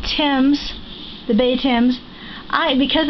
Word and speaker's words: Thames: This here is, it's called Thames, the Bay Thames. Because it's spelled T-H-A-M-E-S, I always tease Brian, I call it Thames.